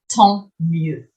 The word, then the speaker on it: tant mieux: And finally, we have tant mieux. Tant mieux, lots of silent letters in that one, is like so much the better.